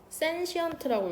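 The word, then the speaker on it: sentient: 이거 센시언트라고 읽거든.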